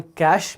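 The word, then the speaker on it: cache: एक जिसे हम कैश मेमोरी कहते हैं, याद रखिएगा इसका प्रोनाउंसिएशन जो है वो है कैश।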